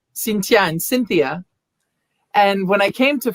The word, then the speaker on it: Cynthia: can't pronounce correctly um because they don't say the th you know in france in french the th doesn't exist and so cynthia is not cynthia in french it's cintia with a t and and